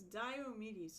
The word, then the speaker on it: Diomedes: I can pronounce Diomedes, and that's what I have to remember. It's Diomedes, so it's Dio. But I keep thinking, it's like, there's the band Dio. So I keep thinking Dio.